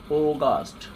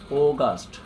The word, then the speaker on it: আগস্ট: আগস্টকে উচ্চারণ করতে হয় অগাস্ট। অগাস্ট।